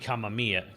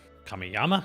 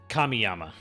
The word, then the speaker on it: Kamiyama: name um um by Kenji Kamia Kamya kamiyama sorry I said I didn't want to screwed up but I already screwed up Kenji kamiyama uh is the director